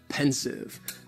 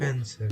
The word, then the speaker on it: pensive: Next is pensive. And the pronunciation, very easy, just two syllables, and the stress is on that first syllable. Pensive.